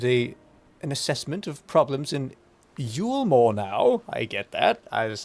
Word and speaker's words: Yulmore: You seem to have conducted an assessment of problems in Yulmore now.